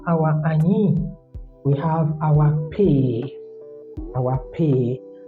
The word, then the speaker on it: pe: After our ani, we have our pay. Our pay. Some write with H, some don't write with H, but it's okay. It's pay. Pay. In terms of pay, take note of pay.